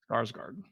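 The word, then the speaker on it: Skarsgård: Scar and then my Skarsgard there you go Skarsgard and then uh Maya Goff and it's directed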